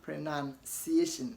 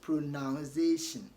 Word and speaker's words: pronunciation: O after the N but pronunciation has got no o after n okay so don't say pronoun say pronun none okay pronun and you and none are not noun okay and there's no Z Aussie letter in it so you don't want to say zation this is notization it is Association pronunciation okay pronunciation not pronunciation let's practice some for